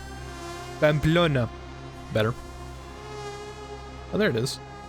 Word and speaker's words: Pamplona: The question is if we can find Pamplona. I just pronounced that in the worst way, the most American way possible. Pamplona.